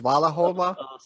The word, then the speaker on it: Smalahove: What is pronounced? Smalahove.